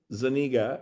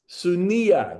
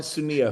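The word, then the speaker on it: Zúñiga: Zeniga. It's a Spanish name with with an apa issa. Sunia. The G is like a Y. I'm sorry. Carmen Sunnia, who I love.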